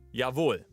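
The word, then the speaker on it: Jawohl: All right, let's go with yavul, which is more like the the proper way to say it, like yul.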